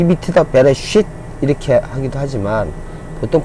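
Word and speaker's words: בראשית: 자, 그래서 정리를 해보면 이게 베, 리을의 에, 요거는 묵음이 돼서 발음이 없고요. 요거는 아까 요렇게 요게 이라고 했기 때문에 요게 쉬라는 발음, 자음 발음을 갖고 있기 때문에 이를 겹쳐서 해도 그대로 쉬가 되죠. 그리고 타브인데 티귿에 모음이 없을 때는 으 발음한다. 그래서 베레쉿 이렇게 발음합니다.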